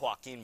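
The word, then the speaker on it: Joaquín: It's pronounced Joaquin, by the way. Joaquin, okay, Joaquin.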